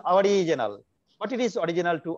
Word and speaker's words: Ouriginal: Original, if it is English pronunciation, it is called original. But as CDS, they are just adding U there, and their pronunciation is our original.